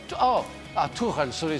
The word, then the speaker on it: Tuchel: Tuchel. Sorry, we say Tuchel. It's why Tuchel.